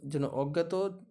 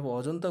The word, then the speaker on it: অজন্তা: তাহলে অজন্তা গুহাচিত্রে, এটা অজন্তা গুহাচিত্রে, আমি উচ্চারণটা ভুল করে ফেলেছিলাম।